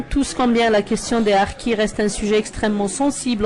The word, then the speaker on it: harkis: livre sur les harkis puisqu'on va a prononcé sa à l'algérienne les harkis parce que au début